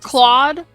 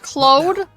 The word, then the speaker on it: Cloe: I'll tell you everything that not CLA it all that pronounced Cloe put it away quick